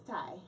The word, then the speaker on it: Tai: Pronounce Alright. your first name. It's Ty.